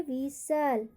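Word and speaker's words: whistle: उसके बाद आपका है विसल, विसल, यहाँ पर भी टी का उच्चारण नहीं होगा।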